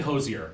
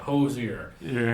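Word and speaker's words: Hozier: It's apparently Hoizer. I looked up interviews of him, but it's like 3 syllables. So I'll try to say it, Hoizer.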